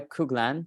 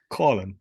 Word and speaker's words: Coughlan: in episode number 12 I am with kuglan did I pronounce that right Colin but it's good Colin uh this is